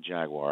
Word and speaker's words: Jaguar: Jaguar. That's Jaguar. Yeah, so they Jaguar. have 3 syllables. Yeah. I don't get Jaguar. Well, the British don't pronounce the second A. It's Jaguar.